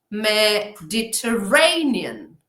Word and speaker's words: Mediterranean: Entonces, para mantener esos intervalos regulares, pues existe la doble acentuación. Mediterranean, Mediterranean, Mediterranean, Mediterranean. O al revés, Mediterranean. A veces nos encontramos imágenes especulares de esta doble acentuación, ¿vale? Imaginaos, existe un doble acento en palabras largas en inglés.